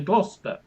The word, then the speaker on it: Gloucester: Dr. Foster went to Gloucester is a rhyme taught to children to tell them that Foster rhymes with Gloucester, even though Foster looks very different from Gloucester.